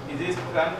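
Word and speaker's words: the: is newest grammar তুমি আরেকজনকে শোনো তারপর তোমাকে দিচ্ছি বলি বলি বলো I have to book one ইজ দিয়ে এন্ড দা আদারস নিয়ে দা আদারস না দি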